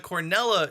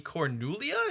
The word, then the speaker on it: Cronulla: Two more teams left, and let's jump into the Cornella Sharks, or as some Americans might call them, the Cornulia Sharks?